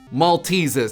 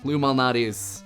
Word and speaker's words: Lou Malnati's: weekend microa mispronounces things Lou m mes no malates Lou malates I apologize to my Chicago